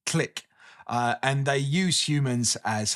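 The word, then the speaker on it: Tlic: The story is mostly about the kind of complex relationship between the two species, where the Click, I am pronouncing it right. It's T-L-I-C, Click.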